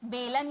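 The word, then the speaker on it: bowl: कटोरी यानी कि बोल इसे बाउल नहीं पढ़िए बोल खेलने वाला बोल होता है ना वो वाला बोल ठीक है कटोरी यानी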